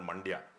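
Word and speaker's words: Mandya: in that district but it also rhymes with India there's a district called Manda in Karnataka and uh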